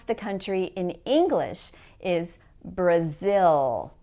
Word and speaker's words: Brazil: The way that we pronounce the country in English is Brazil, not Brazil.